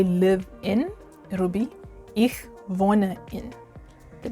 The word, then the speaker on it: wohne: So to say I live in, it'll be ich wohne in. The W, you say it like a V. So ich wohne in.